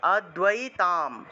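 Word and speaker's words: অদ্বৈতম্: অদ্বৈ আছে অদ্বৈ আছে তাহলে উচ্চারণটা কিরকম হবে অদ্বৈ থাকলে উচ্চারণটা হবে অদয় আদাই আদাই এভাবেই উচ্চারণ হবে নিচে বফলা থাকা সকার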